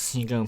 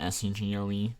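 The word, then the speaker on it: Segoe: I think it's Sego Print. That's how you pronounce it, S-E-G-O-E, Sego.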